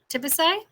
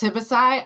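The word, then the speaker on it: Tibisay: sorry it's actually pronounced tibicide i know it looks strange because of the a y at the end but it's in spanish so it's like taking a big sigh at the end that's how i explain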